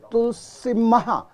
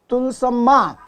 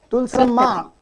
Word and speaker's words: Tulsamma: In the second line, you have written Tulsimma. So, which is the exact word? Is it Tulsamma or Tulsimma? How do you pronounce it in Telugu? Tulsamma. Tulsamma.